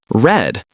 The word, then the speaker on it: read: Present tense read. Past tense red. It sounds like the color red.